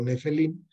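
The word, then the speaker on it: נפילים: Se ha respetado eso durante muchos cientos de años, pero se pronuncia en hebreo Nefelim, que es el Nefesh, que es el alma vital.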